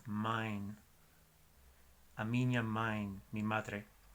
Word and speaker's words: mãe: Y ese sonido de AE es ein, como si fuera A-I-N. La palabra de madre en portugués es M-A-E con tilde sobre la A y es mine.